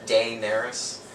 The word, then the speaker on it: Daenerys: a are YS and Daenerys is spelled it's day nurse so it's Dae n